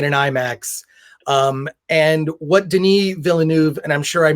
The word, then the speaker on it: Villeneuve: And what Denis Villeneuve, and I'm sure I mispronounced his name. That sounded about right. That sounded good. Yeah, Villeneuve.